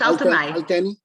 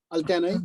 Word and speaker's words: Altynai: It's Altynai. Altynai. Altynai.